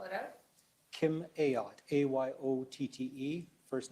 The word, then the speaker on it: Ayotte: the record please State your full name and spell it out Kim ayotte a-y-o-t-t-e first name Kim k-i-m require that the